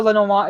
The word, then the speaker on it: Lenormand: So I know Lenormand is the right way to say it, but I'm lazy.